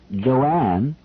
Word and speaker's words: Joanne: "Well, if you called yourself Joan and gave it the two-syllable pronunciation, Joanne, it would be almost like Johann, except for the J instead of the Y sound."